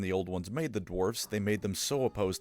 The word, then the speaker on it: dwarfs: of mining and mountains because that's just what dwarfs love. They do have three things that make them stand out though. The first is that it's pronounced dwarfs, not dwarves.